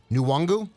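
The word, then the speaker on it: Nwangwu: example uh can a is it nuwongu am i pronouncing it okay yes okay can you imagine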